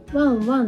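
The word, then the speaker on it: 旺旺: 続いてがですね、こちらワンワンと読むんですけれど、このワンワンも台湾土産として人気の商品です。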